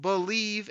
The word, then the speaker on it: Bleav: my other Lions podcast it's called believe in Lions that's spelled bleav v on the believ podcasting